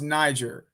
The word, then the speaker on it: Niger: of the countries but it's pronounced niger not the other one it's niger but i